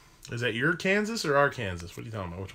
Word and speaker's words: Arkansas: an argument here because the Arkansas River goes into Kansas but we pronounced the river name as Arkansas my daughter who grew up in Arkansas hates it when I